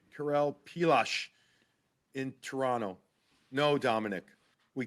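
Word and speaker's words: Pilař: Dominic, can we start the trend to pronounce Vladar as Vladosh, like Karel Pilash in Toronto?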